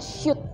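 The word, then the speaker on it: Sült: konsep Cafe Resto sup ini sebenarnya bacanya syot Ya gitu Itu bahasa dari Hungaria jadi kita enggak Eh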